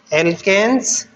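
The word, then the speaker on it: alkenes: में प्लस आएगा और एल्कीन स्पेलिंग को देखिए ANE और ENE और YNE, इससे आपको थोड़ा डिफरेंस साउंड में डिफरेंस है, एल्केन्स, एल्किन्स और एल्काइंस।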